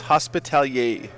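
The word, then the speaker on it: Hospitaller: How come no one pronounces it correctly? It's Hospitalier. Fall back. Clearly the sisters are French. They have a freaking fleur-de-lis all over their armor.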